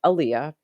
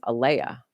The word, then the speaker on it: Alyea: Because my name is Aaliyah, spelled Alyea, but people pronounce it sometimes Alea.